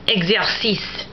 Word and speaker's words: exercice: X, as in exercice. And the X is actually pronounced like eggs, E-G-G-S.